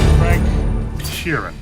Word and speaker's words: Frank Sheeran: none of us will see Heaven Michael could Frank Sheeran I saying that right yeah you said it